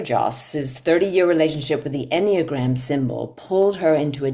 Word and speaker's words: Enneagram: Jennifer Joss's 30-year relationship with the Enneagram symbol pulled her into a deep and life-changing